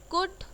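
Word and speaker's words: could: कुड, कुड बोल रहे हैं जिसमें एल बिल्कुल नहीं सुनाई दे रहा है।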